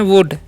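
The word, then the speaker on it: would: जो वर्ड है हमारा डब्लू ओ यू एल डी इस हम पढ़ते हैं वुड एल साइलेंट होता है ठीक है तो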